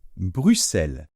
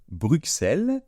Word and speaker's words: Bruxelles: Mais dans ce cas-là, on ne prononce pas la lettre X comme d'habitude, mais on la prononce tout simplement se. Donc on va dire Bruxelles. Donc voilà, il ne faut pas dire, mes chers compatriotes, Bruxelles, hein, c'est une erreur que je faisais aussi